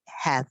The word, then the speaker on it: have: È proprio breve, molto breve.